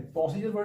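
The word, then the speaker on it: procedure: प्रोसीजर word देखिए यहां पे जो डी मेंशन है प्रोसीड्यूर नहीं है स्पेलिंग में तो डी लिखा है। लेकिन इसका प्रोन्सिएशन क्या है? प्रोसीजर्व। तो डी किसके फॉर्म में बोलता है? Z के फॉर्म में।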